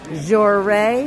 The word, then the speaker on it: Joray: Joray is how that's pronounced.